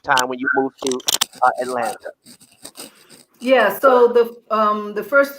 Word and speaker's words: Atlanta: In 1974, let me say Atlanta. I said Atlanta like a native. And as a native, we don't say that. We don't pronounce that last T. Okay, Atlanta. It's Atlanta.